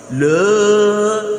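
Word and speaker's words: لا: Jangan sampai la. Nah, ini yang sering terjadi. Masa lam fathah le, enggak mungkin. Harus la itu. La ilaha illallah. Udah la ya. Jangan la ilaha illallah. Yang benar apa? La ilaha illallah.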